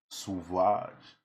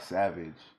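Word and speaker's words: Sauvage: from Camille saage suage well it's not Savage the way it's spelled so um it's a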